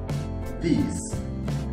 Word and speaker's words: this: que saber es que se pronuncia como si fuera... Bueno, más bien así, la D, la I latina con acento y la S, this, this. Para hacer este sonido, tienen que morder un poco su lengua con los dientes superiores, los de arriba, así, y dicen this, this. Esa es el correcto, la correcta pronunciación de esta palabra, ¿ok?